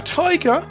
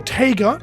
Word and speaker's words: Taiga: A Tiger, or Taiga, depending on how you pronounce it from our opponent.